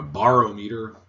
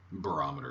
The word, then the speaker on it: barometer: of glassware is known as a barometer or a borometer barometer is the proper pronunciation this type of barometer